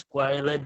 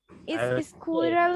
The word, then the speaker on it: squirrel: স্কোয়ারেল, হ্যাঁ স্কোয়ারেল, হ্যাঁ স্কুইরাল না বা ইয়ে না, স্কোয়ারেল, ঠিক আছে? স্কোয়ারেল।